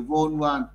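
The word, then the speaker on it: von Wahl: có viết dấu hiệu von van. Đó. Dấu hiệu này ta đọc là dấu hiệu von van.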